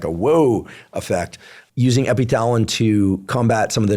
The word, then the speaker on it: Epithalon: Is it Thalon or Talon? The Russians say Epithalon. It's the way they say it, but it's spelled with a TH. Okay. So I'll say Epithalon.